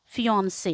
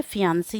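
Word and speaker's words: fiancé: देखने की जरूरत है इसको हम फियोंन से जो है प्रोनाउंस करते हैं ठीक है फियंसी नहीं फियन से ठीक यहां पर भी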